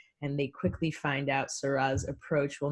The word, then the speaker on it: Sa Rah: Her name is Sa Rah, pronounced like the wine.